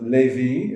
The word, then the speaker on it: Levi: So Levi is the way we pronounce it.